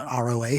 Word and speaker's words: ROA: You guys are doing, is it ROA?